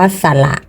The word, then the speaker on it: สระ: กับ สะ ว่าย น้ำ อัน นี้ อ่าน ว่า สระ นะ คะ สะ ส อัน นี้